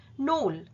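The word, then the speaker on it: knoll: grassy অর্থাৎ ঘাসে Dhaka নোল pronunciation টা হচ্ছে নোল যার অর্থ হচ্ছে ছোট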